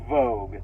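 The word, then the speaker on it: Woge: of change um so it's a w-o-g-e but it's pronounced Vogue um so I've always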